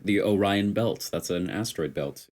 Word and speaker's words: Orion: oh yeah bun bunny it's Orion because you gotta say the I the eye is not silent it's not oron odd no that's how you usually say it like the Orion belts that's an asteroid